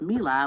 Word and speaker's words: Mela: So I said I needed to give myself another syllable to my name so that people could just say, the name without adding all that silly shit. Okay. So my first name is Mela, which is just me, La.